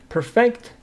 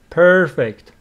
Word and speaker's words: perfect: performance for the recital perfect as a verb here the stresses on the second syllable if it is an adjective perfect first syllable if it is a verb perfect their performance for